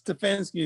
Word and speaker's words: Stefanski: It's Stefanski is his name, right? Yes. Okay. Excellent pronunciation of his name, by the way.